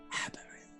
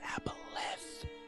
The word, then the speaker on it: aboleth: We have a aberrant on our tails. It's pronounced aboleth.